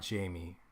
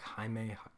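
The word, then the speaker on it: Jaime: it's Hae haime right it's not Jamie it's like haime HZ I don't I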